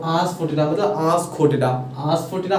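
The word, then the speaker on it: asafoetida: तो आस्फोटिडा, देखो आस्फोटिडा, ये देखो, ई इसमें आस्फोटिडा नहीं पढ़ेंगे, ठीक है। इस ई साइलेंट रहता है।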